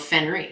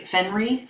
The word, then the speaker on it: Fenrir: in harry potter called fenrir fenri fenri i don't think he pronounced the second art anyway it's f-e-n-r-i-r i never said i